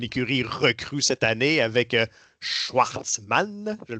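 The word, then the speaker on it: Shwartzman: une écurie recrue cette année, avec Schwartzmann, je le prononce bien Mhm.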